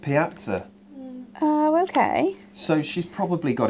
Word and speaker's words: piazza: I would say terrazzo, as the word piazza in Italian is pronounced piazza.